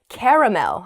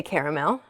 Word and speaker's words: caramel: okay the next oh the next word is caramel i say i think i say caramel oh this is making me doubt myself there's